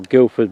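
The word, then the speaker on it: Guldeford: That's the wind farm on Goldiford Marsh, or Guildford Marsh, some people pronounce it.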